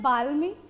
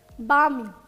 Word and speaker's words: balmy: Now we will not pronounce it as balmy. L is silent in this word. It is balmy.